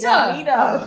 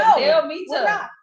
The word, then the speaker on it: Delmita: Delmita. You still said it wrong. Don't talk about it. You have 3 syllables. No, Delmita. 3 syllables. Delmita.